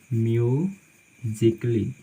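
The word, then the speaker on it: musically: उसी तरह से मान लीजिए कि म्यूजिकली, यहाँ पर भी जो ए है वो साइलेंट लेटर होती है, उसका उच्चारण हम बिल्कुल नहीं करते हैं।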